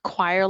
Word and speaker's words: Cuire: Choir, like singing in the choir? Well, it's spelled CUIRE. Okay.